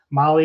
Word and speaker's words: Mahle: And for our podcast listeners, Molly is spelled Mahle.